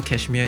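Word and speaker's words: KSHMR: people who don't know cashmere is uh how do you spell that k hit k s h m r k s h m r uh yeah so like without all the vowels so yeah so like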